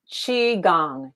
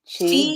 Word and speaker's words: Qigong: Pronounce that for me, Dixie. Qigong, Qigong.